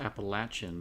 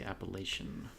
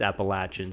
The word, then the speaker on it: Appalachian: I say write Appalachian not Appalachian it is pronounced Appalachian but most people say Appalachian yeah in the Northeast we definitely say Appalachian but I was corrected its Appalachian so vehicle action yeah so Bob had a